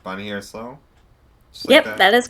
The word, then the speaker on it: Bonnie Harris-Lowe: here with uh Miss Bonnie Harris Low. Is that how it's pronounced? Bonnie Harris Low.